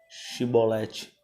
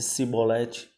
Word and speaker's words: Shibolete: Se respondesse que não, diziam: então diga Shibolete. Se ele dissesse Sibolete, sem conseguir pronunciar corretamente a palavra, prendiam-no e matavam-no no lugar de passagem do Jordão.